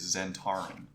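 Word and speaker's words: Zentarim: prefer my way um apparently the official D and D way is Zen Tarin so you can say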